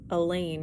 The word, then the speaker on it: Elaine: let it be her elaine rhymes with pain i'll probably never find